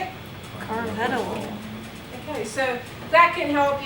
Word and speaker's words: carvedilol: Carvedilol. Who wants to pronounce it? I don't hear anybody. Neither. Carvedilol? Carvedilol? So how can we tell how to pronounce it? Should tell you. Let's press this button. Carvedilol.